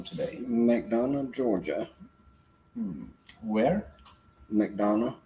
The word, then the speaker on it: McDonough: in mcdonald georgia where mcdonald is that how you say it it's not mcdonagh that's what i've experienced yeah yeah mcdonough so our nightcap